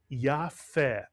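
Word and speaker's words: יפה: And in this word, the Pei does not have a dagesh, and it's pronounced as the English letter F. And the word is Yafeh, Mitsuyan.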